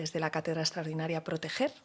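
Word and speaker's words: Protejer: Y eso es de lo que soy directora, que es de la cátedra extraordinaria Proteger, que se escucha con G y se escribe con J.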